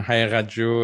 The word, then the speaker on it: Haqiqatjou: did great you know Hau is generally how it's pronounced uh the the Q is what people have trouble with it represents a K in Arabic or farsy so uh you can pronounce like a or softer like more like a sound either way okay so